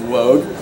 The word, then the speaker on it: Woog: I know it was written by Coach Woog. I don't know how to sing it though. It's actually pronounced Wogue.